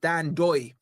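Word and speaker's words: Ndoye: And by the way, you dropped the N just for you guys, right? If you're wondering, pronounced Dan Doy, uh, Dan Lion Doy.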